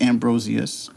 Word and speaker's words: Ambrosius: she was like, everyone always told me Ambrosius, and that's wrong. It's Ambrosius.